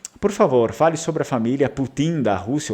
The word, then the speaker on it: putin: que é a palavra Putin, daí é outra coisa, né? No Vêneto a gente não fala Putin, a gente fala Putin, com a sílaba tônica na letra I, Putin.